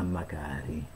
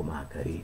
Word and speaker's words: Macari: I colpevoli sono matti, quattro indagini a Macari, o Macari, Macari, sì, Macari perché c'è l'accento su A, lo sfrantummato Lamanna, disoccupato,